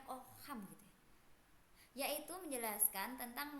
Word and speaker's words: Ockham: Terus di sini ada Ockham, bacanya Ockham gitu ya, yaitu menjelaskan tentang membandingkan 2 hal khusus yang dimana satu ada pengaruh tentang metode tersebut dan satunya tidak berpengaruh.